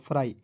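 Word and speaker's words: fry: एफ आर वाई तो एफ आर को फ्र लिख दीजिएगा अंतिम में वाई है तो इसका उच्चारण आई के रूप में करेंगे तो क्या हो जाएगा फ्राई दोस्तों आज के इस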